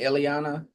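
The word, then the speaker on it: Illyana: About any of I mean with uh and how do you pronounce that? Is it Eliana?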